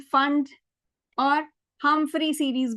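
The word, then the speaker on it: Pfund: उससे पहले वाला सेट ऑफ लाइंस ये लाइमन सीरीज है, Lyman Balmer पाश्चन bracket P silent फंड और हमफ्री सीरीज भी होता है जो कि एनसीईआरटी में नहीं है।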